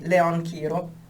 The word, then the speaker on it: Leon Chiro: And then I stumbled into Leon Chiro. I don't know if you know him. The Italian pronunciation, since he comes from Rome, would be Leon Chiro.